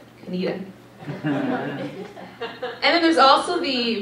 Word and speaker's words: Kinetta: name and the first way is the phonetic pronunciation which is caneta and then there's the second way which is the preferred pronunciation which is canita canita and then there's also the very acceptable way